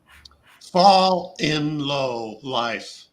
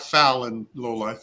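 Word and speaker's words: FALNLOLIFE: Fall in low life. He's phonetically spelling it out for me. Fall in low life. It's not foul in low life.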